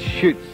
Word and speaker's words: Schultz: He spells it like Schultz, but it's Schutz, the pronunciation.